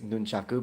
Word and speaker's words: nunchaku: Like he pronounces them, it's nunchaku, but it's fine because he's using English.